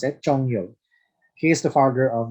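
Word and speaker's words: 鍾繇: known person who invented the standard script is chongyo that's how you pronounce it chongyo he is the father of the regular script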